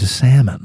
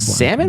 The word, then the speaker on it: salmon: Salmon or salmon? Salmon. It's definitely salmon. Oh, Pronounced okay. salmon. Salmon. Have I been going too soft on that L my whole life?